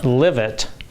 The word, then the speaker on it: LIVET: I coined the name live it because diet is spelled d i e with a t.